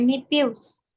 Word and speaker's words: nephew: My nephew's. My My nephew's. nephew. My My nephew. Jadi kan kalau aku udah sering kasih tahu ya, kalau misalnya ada P ketemu sama huruf H, itu dibacanya apa? F.